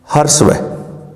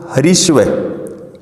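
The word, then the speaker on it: ह्रस्व: अब मात्रा या उच्चारण समय के आधार पर पहला प्रकार है मित्रों हर्षव। क्या है? हर्षव। यहां पर मित्रों हरीश्व, ये गलत है।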